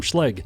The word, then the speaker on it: Schlage: number thing that's cool now before you tell me that schleg is not pronounced that way guess what it is they're a sponsor of